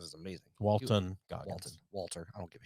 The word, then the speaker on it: Walton Goggins: Yeah, Walter Goggins is amazing. Walton Goggins. Walter. I don't give a shit. I pronounce more like celebrity names incorrectly I on know here than you do.